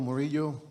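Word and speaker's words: Murillo: My name is Moro. First name is spelled J A I R O.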